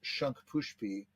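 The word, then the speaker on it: Shankhpushpi: This herb is Shankpushpi. I'll spell it. It's Shanka, Shanka, and the same word, Pushpi.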